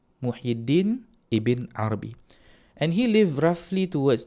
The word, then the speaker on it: Muhyiddin ibn Arabi: Okay, so one we have here, which is Muhyiddin, and I am inclined towards the pronunciation of this name without the al.